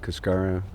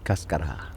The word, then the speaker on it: cascara: Yes, most Americans pronounce it Cascara. Spanish it's Cascara.